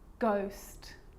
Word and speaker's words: ghost: or rare occasions it's not pronounced the h is silent so it's choir choir echo echo with a g ghost ghost and with an r rhythm or rhyme good